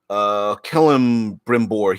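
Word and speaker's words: Celebrimbor: So everyone says, pronounce the C like the K and kill. Oh, Kellum Brimbor, he's the elf that made the rings of power.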